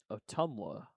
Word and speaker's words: Ottumwa: Indian Hills is in Ottumwa, Iowa. Ottumwa? It starts with OTT, so it's definitely Otters related. It's near the Iowa-Kansas City border. Ottumwa. Ottumwa. That's how you say it.